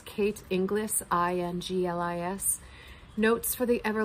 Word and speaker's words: Inglis: is by say her name correctly it's kate inglis i-n-g-l-i-s notes for the ever lost a field